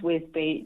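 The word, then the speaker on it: Wisbech: I think is I think it's I keep being told it's Whiz Beach is how you pronounce it. It it is it is Whiz Beach.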